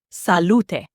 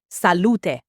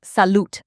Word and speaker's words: salute: Salute is three syllables. Salute. Stress on the middle, lu, and that final e is not silent. Salute, not salute like English.